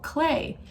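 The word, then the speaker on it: Klee: that name because remember we thought it was clay like what we play with or we create pottery out of but no his name is not spelled CLA why it's spelled K L e e Paul clay now we watched a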